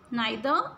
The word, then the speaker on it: neither: द next is an stands for neither either और sometimes we call it neither either, ठीक है, neither either। ये दोनों pronunciation ठीक हैं। एक US है, एक UK की है, तो दोनों आपकी ठीक हैं, ठीक है।